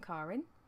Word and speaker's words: Karin: Karin is the proper German way to say it. It would be much easier if my name was spelt C-A-R-R-I-N, because then people would say it properly, because I get called all sorts, but that's okay.